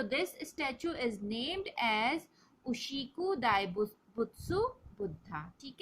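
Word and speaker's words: 牛久大仏: Okay, उशिकु दाइबुत्सु, this is the pronunciation of this word.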